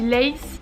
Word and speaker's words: Leith: Je crois que du coup ça se dit Leith, L-E-I-T-H.